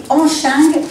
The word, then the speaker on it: Hong Cheng: Tout d'abord, je voudrais rectifier un petit peu la prononciation du titre parce que c'est Hong Cheng, le Papang.